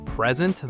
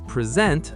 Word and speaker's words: present: Present, the noun, meaning a gift, versus present, the verb, meaning to show or give something. Contract, the noun, versus contract, the verb.